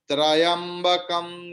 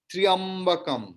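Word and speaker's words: त्र्यम्बकम्: when they chant Om Trayambakam Yajamahe, it's a wrong pronunciation. Triambakam, because half ta, half ra and ya together.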